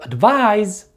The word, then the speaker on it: advise: with the verb advise the stress in both of these words falls on the second syllable however the last sound of the noun advice is the s sound and the last sound of the verb advise is the z sound and this brings us